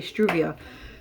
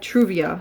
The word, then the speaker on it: Truvia: Why am I saying it wrong? I was going to say struvia. But I have Truvia, so I used just